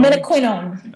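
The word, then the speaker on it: menaquinone: in studying K2 and and how do you pronounce its uh scientific name Min quino Min quinon okay yeah Min quinon it you know I first um I read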